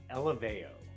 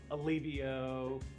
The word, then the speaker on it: Eleveo: a few questions so brian how do you pronounce our company name elevao not olivio what is the strangest pronunciation you've heard of